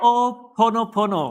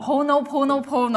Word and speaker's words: Ho'oponopono: How do I pronounce that? Ho'oponopono. Ho'oponopono.